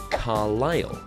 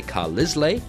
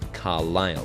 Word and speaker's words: Carlisle: surname, my family name, Carlisle, Carlisle. So you might look at that and say Carlisle, and many people do make that mistake, but it's Carlisle. So the silent letter is S.